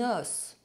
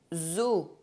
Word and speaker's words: os: For example, un os, open O sound, O. Des os, closed O sound, O.